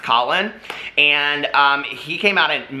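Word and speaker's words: Kahlen: his name is Colin, it's K-A-H-L-E-N, I think it's pronounced Colin, and he came out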